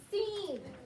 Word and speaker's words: scene: the silence c and the word is scene like in a movie there might be a movie scene and so when i saw this word out seeing that that c does not say anything it's just the s sound c and then we